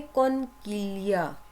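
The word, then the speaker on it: conchiglia: आगे आप देखें ये क्या है, कॉनकिलिया, कॉन किलिया। देखें ये जी आ गया ना, जी को हम साइलेंट करते हैं।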